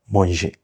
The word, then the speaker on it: mangé: And then you know when this accent is on E, it's pronounced E.